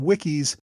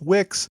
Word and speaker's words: Wickes: the main episode and called him wik please forgive me I learned rather late that his name was pronounced Wicks and I kept slipping up and using the wrong pronunciation I hope I caught